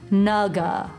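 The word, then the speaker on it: 那个: Where I'm from in Taiwan, or my family's from, it's that same word, but it's pronounced like naga, Yeah.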